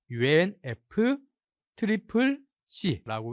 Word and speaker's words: UNFCCC: C가 3번 반복되다 보니까 UNF 트리플 C라고 이렇게 또 이야기도 하고요.